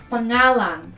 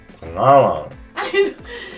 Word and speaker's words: pangalan: say it again pagang pangalan P pangalan you don't got to like it's not like a hard G it's like a soft G again again again again